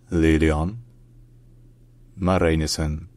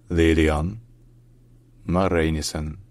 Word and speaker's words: Lilian Marijnissen: known as SP in Dutch her name is pronounced Lon Marinis lilon Marin Lon Maris Lon Maris all right if you enjoy learning